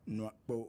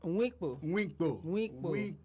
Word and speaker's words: Nwakpo: and we have Nwakpo, who's a journalist. Did I say it properly? Nwakpo? We're working on this, Jones. Winkpo.